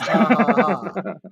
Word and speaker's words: ja ja ja: The ha ha ha is still pronounced ha ha ha. But it's spelled ja ja ja.